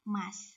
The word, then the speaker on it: ます: biasanya untuk kata kerjanya diakhiri dengan kata emas gitu ya memang secara penulisan itu masuk tapi cara bacanya adalah emas gitu ya teman-teman Nah